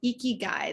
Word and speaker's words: Ikigai: go through today is called eeky Guy this is how it's pronounced it's a Japanese concept